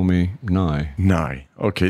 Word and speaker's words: Nighy: And my father always wanted us to be called Nighy, which rhymes with sigh. So in honor of my late father, let's call me Nighy.